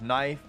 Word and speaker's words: knife: And that's why both of those words start with a K, but don't have the sound.